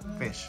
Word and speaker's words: Ghoti: He played Ghoti. Ghoti. How did, what's the proper pronunciation? Fish.